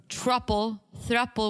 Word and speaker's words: thruple: Or thruple, whatever you pronounce it. Thruple. Thruple. Yeah. You have thruple trouble. I do. Yeah. It sounds like truffle and it makes me hungry.